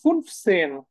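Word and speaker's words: fünfzehn: দেন হচ্ছে দশকটাকে পরে বসায় দিব তাহলে দেখেন ফুনফ সেন হুম ফুনফসেন জাস্ট এইভাবে ফুনফসেন ফুনফ মানে হচ্ছে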